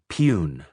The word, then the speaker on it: peon: Gopi was our peon, pronounced pune, messenger, to distinguish him from peon, the slave.